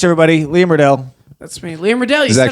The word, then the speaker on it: Liam Riddell: That's me, Liam Riddell.